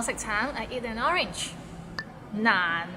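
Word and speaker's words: 難: I eat an orange Nan it's N N means difficult and it's difficult to pronounce so it start with n and ends with another n n and it's in a low tone so n practice and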